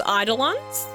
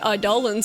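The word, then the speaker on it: Eidolon: You know, when I was a kid, I pronounced Idollans idolons. I mean, you know, but then I played Final Fantasy 13 and they were like Idollans and I was like, "Oh, I messed that up."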